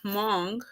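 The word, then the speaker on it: Hmong: And then there's one um was called Hong which is spelled H M O N G and other multi-racial um that are called that are from the Caribbean.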